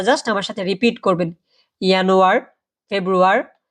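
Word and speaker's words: Januar: কি বলে আপনারা জাস্ট আমার সাথে রিপিট করবেন ইনোয়ার ফেব্রুয়ারি মেস এপ্রিল মাই ইউনি ইউলি আগস্ট সেপ্টেম্বর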